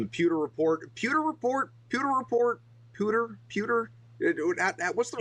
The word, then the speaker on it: Pewter Report: Pewer report.